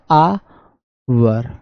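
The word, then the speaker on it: hour: यहां पर क्या हो जाएगा, प्रोनाउंसिएशन क्या निकलता है, आवर, क्या निकलता है सर इसका प्रोनाउंसिएशन, आवर।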